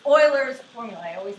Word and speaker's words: Euler: It's Euler's formula. I always mispronounce it. It looks like you want to pronounce it Euler's. It's actually Euler's.